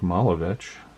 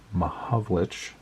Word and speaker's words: Mahovlich: Sid Smith and Frank Malovich, or Mahovlich. I always get his name wrong.